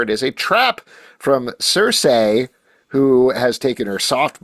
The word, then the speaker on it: Circe: It shouldn't be Circe. That's not how you pronounce the thing. It's Circe.